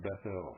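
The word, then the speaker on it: Bethel: consecrated it to God that should be pronounced bethl folks which when Solomon had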